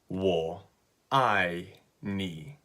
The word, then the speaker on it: 我愛你: so it's really simple it's three syllables wool I nee okay and just like